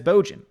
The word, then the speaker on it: Bojan: So it's pronounced like Trojan, but instead it's Bojan.